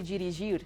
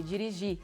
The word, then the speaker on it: dirigir: So when you have a verb in their infinitive form, the last syllable is stressed and the R is silent. So you don't say dirigir, you say dirigir.